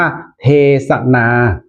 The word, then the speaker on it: เทศนา: การัน ใช่ มั้ย ครับ แต่ ถ้า อ่าน ว่า เทศนา ก็ จะ เป็น สระ อา ที่ นอน หนู แต่ ว่า สะกด ด้วย สค ศาลา เหมือน กัน นะ ครับ และ หลัก